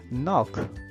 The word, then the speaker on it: knock: Knock. Jadi pengucapannya adalah knock bukan knock.